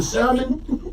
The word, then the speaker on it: salmon: The L in salmon, you don't hear that shit. You see it, but you don't hear it.